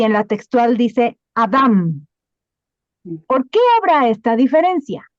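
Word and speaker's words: אדם: Y precisamente donde está Adán con N aparece la traducción en hebreo en la pronunciación es Adam. Sí, con M.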